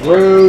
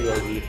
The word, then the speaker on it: Rouge: Thank you, Rogi. Rogi the vet. It's called Rouge. What are you doing? I don't know. That's how you pronounce it. It's Rouge. It's French. It's French.